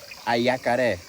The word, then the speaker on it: jacaré: Jacaré is a tribal name, from the right pronunciation, ayacaré, what means attacked by the sides.